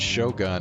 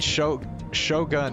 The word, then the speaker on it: Shogun: Yeah, if you're doing Japanese pronunciation, yeah, U's are always pronounced oo, not But, I don't know. I mean, Shogun is an English word, so I figured I would just pronounce it like in English. But yes, technically, if you're trying to use the Japanese pronunciation, it would be Shogun. おもちゃ。